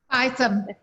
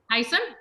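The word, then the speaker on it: Payasam: Yes, we're making hopefully I pronounce it right, Rava Paisam. Is that how you pronounce it? Paisam. Paisam, thank you.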